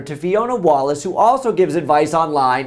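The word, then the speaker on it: Wallice: Wallace, and you spelled it incorrectly. My name is spelled W-A-L-L-I-C-E. So your research skills maybe could use some improvement other than that. But think wall ice.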